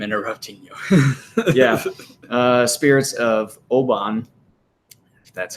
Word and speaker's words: Obon: I'm sorry I'm interrupting you yeah spirits of Oban that's how you pronounce it and if Hannah Obon season July